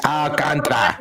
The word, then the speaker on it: Alcantara: You gotta roll those R's, Grace. Alcantara.